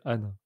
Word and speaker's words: Han: Il y a Han et Anne.